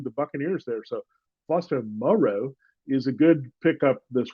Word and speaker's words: Moreau: All right, let's look at the tight ends, Foster Moreau. That's Foster Moreau. We've been thinking about him as the island of Dr. Moreau, but it's really Foster Moreau. And Moreau. And that's how you say it.